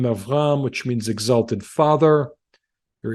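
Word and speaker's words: אַבְרָם: It is avram, 2 syllables.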